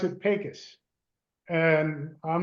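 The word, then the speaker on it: Pecos: here they pronounce it pus and I'm not sure why but that's the way it's pronounced out in West Texas out here and that and if you look at pacas it's about a 40-minute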